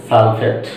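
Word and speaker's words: sulfate: তাহলে এখানে পড়বো আমরা সালফাইট, এখানে আমরা পড়বো সালফেট।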